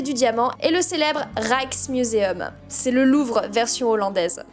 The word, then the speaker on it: Rijksmuseum: Et nous avons voulu visiter le musée Van Gogh et le, attention prononciation, Rijksmuseum.